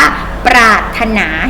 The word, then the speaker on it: ปรารถนา: เป็น ต้น นะ คะ เขียน ปลา รถ ฮา แต่ เวลา อ่าน ว่า ปรารถนา เห็น ไหม คะ ไม่ ออก เสียง พยัญชนะ ตัว รอ ตัว นี้ นะ แต่ ต้อง เขียน ไว้